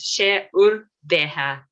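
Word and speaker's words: 's e ur beatha: And the informal version of the same thing, you're welcome, is she urbeha. She urbeha. So there is no H after B here, so she urbeha.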